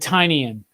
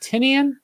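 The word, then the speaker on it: Tynion: homie Scott Snyder and he said tinan and I that was the first time I went oh it's tinan not tenian and so there you go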